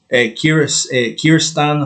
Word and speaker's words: Kyrgyzstan: Kyrgyzstan, I think is how you pronounce that, 39.8 is a May record nationally.